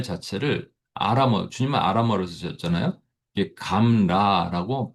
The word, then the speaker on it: gamla: 이게 감라라고 발음을 합니다.